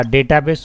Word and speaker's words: database: जैसे नॉर्मल बिहार वगैरह में लोग डाटा बेस बोलते हैं, लेकिन बाहर में जाओगे तो पता है क्या बोलते हैं इसको? डेटाबेस। बोलो तो जरा। डेटाबेस। Yes, this is right pronunciation. डाटाबेस बोलेंगे बिहार वाले।